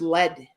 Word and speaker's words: lead: people will ask me too do you play league guitar or do you play rhythm guitar and honest to goodness this is what i say to michael actually believe it or not it's pronounced lead it's um it's rhythm guitar and lead guitar